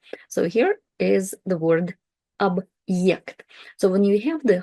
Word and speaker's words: объект: But when we have the hard sign, it introduces this kind of like short pause into the word, and we restart the letter ye, the vowel ye, with its full sound. Ye. Объект. Объект.